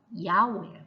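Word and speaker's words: 药: 중국은 야오예요. 야오. 그 다음에 일본은 쿠스리.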